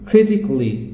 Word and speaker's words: critically: লজিক্যালি, অ্যারিস্টিক্যালি or physically, critically। তার মানে আমরা কি করছি, আগে যেটাকে বলতাম ক্যালি, এখন সেটাকে বলবো ক্লি। Kelly, it should be cli, that means romantically, musically, logically, artistically, physically, critically.